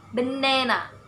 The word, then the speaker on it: banana: And I take the example, banana. Only ne have to stress, and b and first syllable and the last syllable unstressed. Banana, like that.